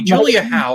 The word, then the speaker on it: Julia Howe: Jarvis would He's pronouncing it Julia Howe, but it was really Julia Ho, I remember.